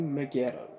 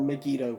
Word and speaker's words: Megiddo: and that is omegaco to megiddo or megiddo however you want to pronounce starring of course one